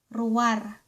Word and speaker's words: ruar: ruar (pronounced ru-war) ruar = outside Fourth one ----- the opposite of napudot is ----- nalamiis.